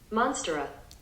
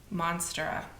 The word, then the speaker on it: Monstera: Monstera. Monstera.